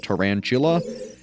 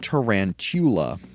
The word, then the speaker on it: tarantula: word skull in tarantula, which most people pronounce with a CH sound, as in chula, like, tarantula, but you could also pronounce it tarantula.